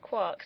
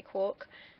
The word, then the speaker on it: quark: All of my lecturers have said quark. Sometimes I hear people say quark, and I immediately assume they are noobs.